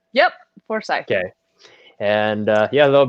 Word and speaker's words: Forsythe: Forsythe.